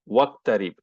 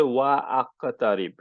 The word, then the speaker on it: waqtarib: Okay, for example, waqtarib, you don't say wa aqtarib.